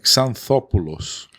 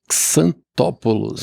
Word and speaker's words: Xanthopoulos: Mas em grego é um pouco diferente, por causa do TH, né? Que é o teta. É Xanthopoulos. Xanthopoulos.